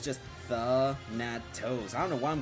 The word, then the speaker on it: Thanatos: It's supposed to be pronounced Thanatos. There's no second N. It's just Thanatos. I don't know why I'm going for Thanatinos.